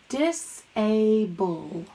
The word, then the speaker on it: disable: around the ble cause it says bull like bubble mark cross out the e cuz it is silent and don't forget about your apostrophe dis a bull alright that way whenever